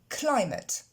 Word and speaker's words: climate: L'accent tonique tombe sur la première syllabe, cly. Et ce ATE va se prononcer simplement ET, comme c'est le cas de toutes les terminaisons des noms en ATE qui ont plusieurs syllabes. C'est pas le cas par exemple de plate. Ok. Mais climate.